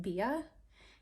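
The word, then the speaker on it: BBIA: I think it's pronounced Bia. It's B-B-I-A.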